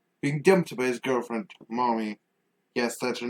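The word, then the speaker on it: Mami: Kaza, ends up being dumped by his girlfriend, Mommy. Yes, that's her name. It's M A M A Mi, not the other way. But yes, it is pronounced Mommy.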